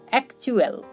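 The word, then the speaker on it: actual: AC এক, TU চু, ALL অ্যাকচুয়াল, অ্যাকচুয়াল। যখন টি এর পর ইউ লেটারটি ব্যবহার হবে তখন বেশিরভাগ ক্ষেত্রেই চ এর মতো একটা উচ্চারণ করে।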